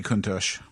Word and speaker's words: Countach: Uh, probably Lamborghini Countach. Is that how that's how it's pronounced?